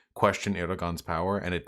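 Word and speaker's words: Erdoğan: So to clarify, it's not Erdogan, it's Erdogan. Have I been fucking that up? You pronounce G's like Y's if I recall correctly.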